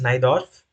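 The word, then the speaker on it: Najdorf: here which is A6 giving rise to the naidorf varation it's pronounced as naidorf so n variation is like one of the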